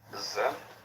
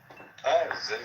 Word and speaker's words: Zen: Yeah, And so this is being pronounced Chan in Chinese Tom, and Zen in Japanese. Zen. Zen.